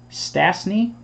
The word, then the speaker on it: Stastny: me stan makita and peter stansky stanstny stastny how do you say that s-t-a-s-t-ny i know who it is peter stasny sounds right ten of thirty eight